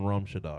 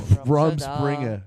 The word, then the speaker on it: Rumspringa: He looks like he's still on Rumshada or whatever it's called. Rumspringa. Rumspringa. That's Rumspringa it. Rumspringa. Yeah, he is looks the like he's thing you just were been on looking for. Rumspringa.